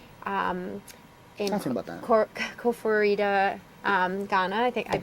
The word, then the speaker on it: Koforidua: Koforidua, Ghana. I think I'm pronouncing it wrong, but they You got it.